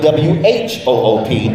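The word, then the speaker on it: whoop: Some spell it W-H-O-O-P. The W is silent.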